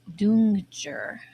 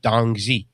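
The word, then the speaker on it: 冬至: things like um China the winter solstice festival is called dungjer. Um that is not how that word looks. No, it doesn't. But that's that's kind of how they they have their different um I would have said dongi.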